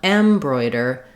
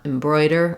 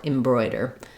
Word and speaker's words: embroider: it uh it's mostly the important thing is to be have your clear vowel and your length on the Bro syllable and be very short and reduced on the first syllable so you don't want embroider you want embroider or embroider M or M are both okay there so in the